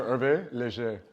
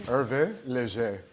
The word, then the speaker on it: Hervé Léger: but H is silent in French. Oh, that's like Hermès. Yeah, Hermès, yeah. Oh. So Hervé Leger, yeah. Hervé. Oh, say it again to me. Hervé Leger.